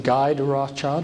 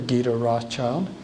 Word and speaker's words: Guy de Rothschild: And this is, you can pronounce his name Guy de Rothschild or Guy de Rothschild, if you want a more French pronunciation, Guido.